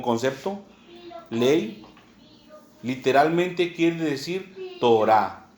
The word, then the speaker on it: Torá: Si usted quiere poner aquí ley, como concepto, ley, literalmente quiere decir Torah. T-O-R-A, acento en la A. Torah.